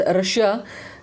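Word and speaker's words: Russia: द यूएस रशिया जो अच्छा इसको रशिया पढ़ते हैं लेकिन इसका एग्जैक्ट प्रोनाउंसिएशन जो है वो रशा है।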